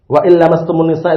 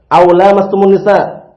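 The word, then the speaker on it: أو لامستم النساء: tayamum n Barakallah fikum kemarin sempat diucapkan waastumisa itu keliru ya Barakallah fikum yang benar adalah aulaumunisa aumunisa nah sebagian orang awam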